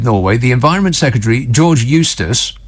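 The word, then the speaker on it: Eustice: the environment secretary George Eustace which rhymes with useless I'm just saying that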